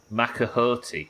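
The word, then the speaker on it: macuahuitl: Macahoti.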